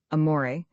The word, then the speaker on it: amore: Amore, you fail sing the second syllable in a baritone voice from the chest with a little throaty tremolo on the surface to make it sound more palpitating.